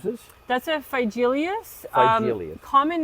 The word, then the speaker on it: Phygelius: How do you pronounce this? That's a felious.